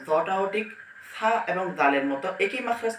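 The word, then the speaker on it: فاء: এরপর ফা, ফাটা উচ্চারণ হবে হচ্ছে নিচের ঠোঁটের পেট, এই যে নিচের ঠোঁটের পেট সামনের উপরে দুইটা দাঁত আগার সঙ্গে লাগবে, উপরের আগা এবং নিচের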